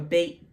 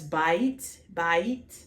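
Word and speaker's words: בית: So if you ever heard of a beit din, let's go back to our beit. Even though it's bait, and when it's a house of something, it becomes bait.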